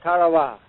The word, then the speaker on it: Tarawa: in the mid Pacific called Tarawa that pronunciation incidentally is from the National Geographic society that Island will never